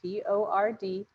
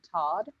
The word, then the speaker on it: Tord: I mean, it's like just 4 letters, Tord, Tord, and they would still call him Todd or Tori.